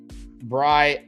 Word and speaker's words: Briah: and they're finally coming it's pronounced Bria Ah, I think Bri cheese with an ah at the end.